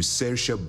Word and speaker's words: Saoirse: It's one of those names that's incredibly hard to pronounce based on the letters that are in it. And they're expecting us to read those names and go, oh yeah, that's Saoirse. What the hell? I wouldn't have pronounced it like that.